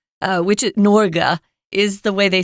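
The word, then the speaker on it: Norge: the next couple of lessons is truma truma norga uh which norga is the way they say Norway in their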